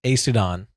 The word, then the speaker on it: Aesudan: But how do you pronounce Elokar's wife's name? Aesudan? That's it. Yes, Aesudan.